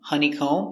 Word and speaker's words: honeycomb: very good so remember whenever you see m b at the end of a word the b is always silent these are only some